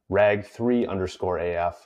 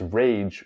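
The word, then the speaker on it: rage3_AF: First comes from the user that I was incorrectly pronouncing as rag3_AF, correcting me, saying it's rage with a 3.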